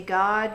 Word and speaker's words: God: You say God, God is how you pronounce it. It's not Gad rhyming with glad.